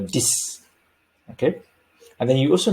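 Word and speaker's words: dix: slide all right so numbers 6 and 10 are not pronounced as six or dicks but rather like s-i-s or d-i-s so which would be cis or this okay and then you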